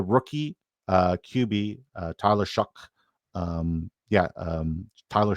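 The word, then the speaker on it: Shough: Uh the rookie uh QB uh Tyler Shuck um yeah um Tyler Shuck. Uh stupid. Uh it doesn't even like why is it Tyler Shuck? It when it's spelled Shiao.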